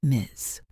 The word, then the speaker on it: Ms.: Some teachers prefer Miss pronounced Miz.